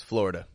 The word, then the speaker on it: Florida: about Florida is that that eye in the middle totally drops out to just be a fla now again it's not incorrect to say Florida Florida it's just not the way people commonly say it these days it's not wrong at